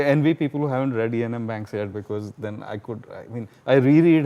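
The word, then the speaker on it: Iain M. Banks: If you haven't read him, he's my favorite sci-fi writer, Ian M. Banks. Ian M. Banks, that's spelled I-A-I-N.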